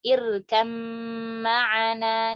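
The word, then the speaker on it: ارْكَبْ مَعَنَا: Contoh di kata di ayat di surah Al-Hud, ya surat Hud ayat 42, irkam ma'ana, diidghamkan bi gunnah. Kita idghamkan dengan gunnah di sini. Irkam, kita bacanya seperti itu. Irkam ma'ana, seperti itu.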